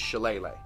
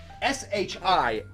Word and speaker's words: Shillelagh: Patrick's does with his Shillelagh.